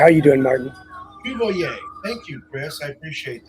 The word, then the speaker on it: Cuvelier: How do you pronounce it? It's Cuvelier. How are you doing, Martin? Cuvelier.